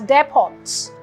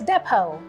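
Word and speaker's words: depot: on this is depo depo and is commonly mispronounced as their pods but it's actually pronounced as depo it is a noun and this word is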